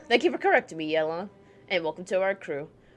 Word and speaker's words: Yelan: I was pronouncing it Yulon. No, it's Yelong. Okay. Well, thank you for correcting me, Yelong.